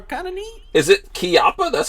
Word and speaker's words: Chiappa: Is it Chiappa? That's how you're supposed to say it? It is Chiappa. It's Italian. It's pronounced Chiappa.